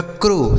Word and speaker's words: crow: CROW, इसे पढ़ा जाएगा क्रो। CROW क्रो। तो आप देख रहे हैं